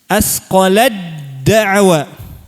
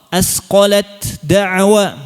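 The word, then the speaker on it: أثقلت دعوا: Asqolat da'wa dibaca jadi asqolad da'wa. Nah, ini perlu diperhatikan. Ketika baca idgham mutajanisain harus benar-benar kamil kalau yang ada tanda tasydid di sini. Antum harus benar-benar membuang huruf ta. Jangan ada bunyi ta sama sekali, jangan ada. Meskipun sedikit. Ya. Contoh, asqolat da'wa. Nah, itu belum idgham. Harus hilang bunyi hamsnya. Ya. Harus ditekan makhrajnya langsung ke sifat huruf dal.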